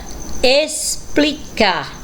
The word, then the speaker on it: explicar: Próxima palavrinha, explicar. Olha aí o X também com o som do S.